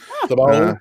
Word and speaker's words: Thibault: It should be there you French, go. Thibault. French pronunciation.